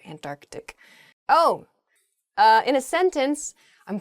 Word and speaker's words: Antarctic: There's sort of like almost a hiccup in the word there, Antarctic.